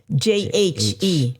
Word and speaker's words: Jhett: But it's spelled Jhett.